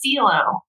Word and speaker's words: Filho: name is pedro rodriguez philo oh pedro rodriguez philo okay i had to look out how to pronounce it because it's spelled f-i-l-h-o i wish i knew